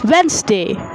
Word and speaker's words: Wednesday: Like we usually say Wednesday, but the native English speakers say it like Wednesday. You can just feel that the D is omitted here.